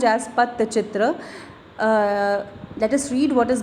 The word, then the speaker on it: Pattachitra: Okay, it is pronounced as Pattachitra.